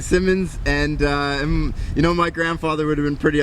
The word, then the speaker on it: Symonds: Diamonds happens to rhyme with my last name, and when I was in Vegas, they didn't know, they didn't really know how to pronounce my name. They kept saying Symonds, and my grandfather would have been pretty upset.